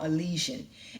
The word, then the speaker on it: Elysian: So I had to find out how to say this name because it's spelled Elysian. And, I was trying to put something real catchy to it like Eliason or Elysian, but it's actually called Elysian.